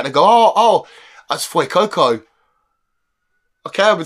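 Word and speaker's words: Fuecoco: YouTuber might say and go oh oh that's FY Coco okay I've been saying it wrong so this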